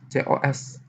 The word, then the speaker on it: cos: Oke, karena dia aslinya C, maka lambangnya itu jadi COS. Nah, gitu ya. Oke, tapi bacanya cos gitu ya, cos.